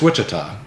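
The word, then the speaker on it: Ouachita: do you pronounce it the o-u-a-c-h what cheetah Wichita it's Wichita which are again another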